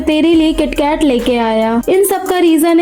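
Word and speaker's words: キットカット: वहां से तेरे लिए किटकैट लेके आया। इन सबका रीजन है किटकैट का नाम। जापान में इसे किटोकाटो प्रोनाउंस किया जाता है जो जापानीज किटोकासू से मिलता है।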